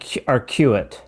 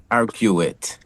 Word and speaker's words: RQ8: Arc and it's pronounced Arquelet Arc RQ8. RQ8. RQ8. Well, the easiest way to pronounce it is if you take the letter R and the letter Q and add the number eight, that'll give you a good idea how to pronounce it.